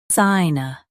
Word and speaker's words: sinusitis: Sinusitis. Emphasize sigh and keep tis soft.